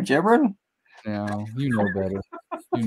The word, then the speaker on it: Gibran: Okay, hey, their name is pronounced. Yeah, you got me. I'm in Texas. It's called Gibran.